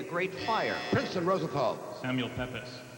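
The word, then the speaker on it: Pepys: Princ Rosenthal, Samuel Pepis. Yes, Pepis will accept Peeps is the accepted pronunciation, I believe.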